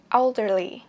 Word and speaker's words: elderly: Three, elderly. Elderly. Elderly. Elderly. Elderly. Elderly. Elderly. Nghĩa là già. Cái này trọng âm, các bạn đặt trọng âm một cho mình.